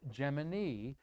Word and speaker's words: Gemini: i've copied that says nasa is officially saying the proper pronunciation of their two-man program was gemini after jiminy like jiminy cricket and you probably got